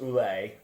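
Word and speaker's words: Ouelet: uh her designer Dr I believe that's pronounced ulle uh who is helping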